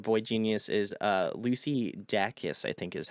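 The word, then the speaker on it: Dacus: third member of boy Genius is uh Lucy dakis I think is how you pronunciate your last name yes so very cool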